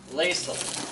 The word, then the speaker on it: Laisel: Yes, her real name is Laisel. It's spelled almost like diesel.